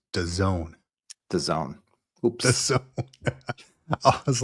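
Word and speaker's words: DAZN: that you mentioned I didn't know until it's pronounced theone theone oops The Zone I was like I I said I was I was I was sitting there with my kid I was like hey look up dazin and he's like dazin it's done Zone Dad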